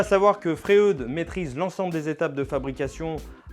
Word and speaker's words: Freud: Et pour éclairer notre choix, j'ai à ma disposition un bel échantillon de lames Freud en diamètre 160. Alors, premier point à lever tout de suite, on prononce Freud et non Freud, qui nous a beaucoup